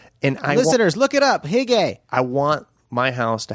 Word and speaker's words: hygge: It's called hygge. It's H-Y-G-G-E. Okay. Yeah. Hygge. And listeners, look it up. Hygge.